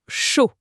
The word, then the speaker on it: chaud: Ici, on a le premier mot, chaud. Ça se prononce un peu comme le mot anglais pour un chaud spectacle.